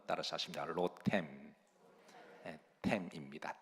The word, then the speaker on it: 로뎀: 일왕 기상 19장 4절에 보시면 여기에 중반 절에 로뎀 나무라고 하는 말이 나와 자 여러분 로뎀 어